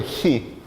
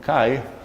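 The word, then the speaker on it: χ: Os ingleses falam kai, acho que vocês falam chi, porque o nome da letra portuguesa é assim, mas eu vou ficar falando o nome dela chi mesmo.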